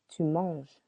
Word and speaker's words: manges: on connais more familiar you eat tu manges silent s I give je donne